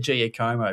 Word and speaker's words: Giacomo: I should have said Giacomo because Giacomo is the correct pronunciation.